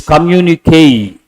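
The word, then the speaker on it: communiqué: e put a stroke and how do you pronounce this communique communique means an official announcement under an official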